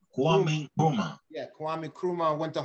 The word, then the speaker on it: Kwame Nkrumah: Kwame Nkrumah. Pronounce it, say for me. Kwame Nkrumah. Kwame Nkrumah.